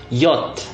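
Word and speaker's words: Jot: Tapi di bahasa Jerman dibacanya yacht karena huruf J ini akan dibaca Y dalam kata-katanya ya.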